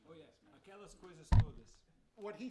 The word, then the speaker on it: Aquelas coisas todas: going to have to help me with the pronunciation. Oh, of yes. this, man. Aquelas coisas todas. What he said Yeah. is exactly right. Aquelas coisas todas.